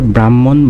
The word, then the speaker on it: ব্রাহ্মণ: উচ্চারণের ক্ষেত্রে আমরা এইভাবে বলি কিন্তু উচ্চারণ হবে ব্রাহ্মণ, বানানটা এরকম, আর উচ্চারণ ক্ষেত্রে এইভাবে হবে ব্রাহ্মণ। ব্রাহ্মণ।